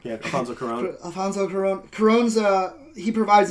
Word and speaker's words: Cuarón: Cuarón. Yeah, Alfonso Cuarón.